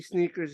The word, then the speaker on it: SNKRS: You heard the Nike app you're talking about is Nike sneakers. It's spelled SNKRS, and there's GOAT.